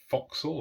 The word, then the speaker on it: forecastle: So probably the superstructure, the forecastle, or forecastle as it's spelled.